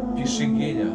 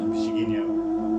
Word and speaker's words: Pixinguinha: Pixinguinha. Pixinguinha. It's written... you don't see that, yes. Pixinguinha.